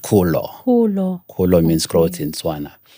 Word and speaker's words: Kholo: swana you know so you pronounce it kulo Ko means grow in